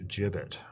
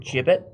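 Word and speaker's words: gibbet: I don't I pronounced jibet according to Google. Jibbit.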